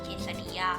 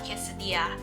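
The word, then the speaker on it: quesadilla: is the flour tortilla You read it is 'tor-tia', not 'tor-ti-la' I don't know if there is anyone like me I couldn't pronounce it so I just say 'tor-ti-ya' 'ques-sadi-ya' But no!! It is actually 'tor-tia' 'quesa-dia' 'burrito' ~ They grow a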